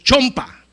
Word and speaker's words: chompa: Me dijeron, "No se dice chumpa, pastor. ¿Cómo se dice chompa?" Me dijeron. Dije, "Pero allá de donde yo soy decimos con u chumpa." No me dijeron, "Está mal dicho, es chompa."